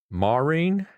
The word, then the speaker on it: Marin: Marin. Marin, that's how you say it.